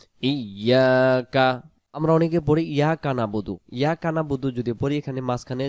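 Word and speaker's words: نعبد: হলো এবাদত আর যখনই আমরা পড়ি নাবুদু নুন জবর না বা পেশবু দাল পেশ দু নাবুদু নাবুদু শব্দের অর্থ আমরা এবাদত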